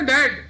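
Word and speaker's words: debt: हैं डेड की तोय डेड है ना डेड डीई बीटी डेड B silent है दिस इ वेरी इंपोर्टेंट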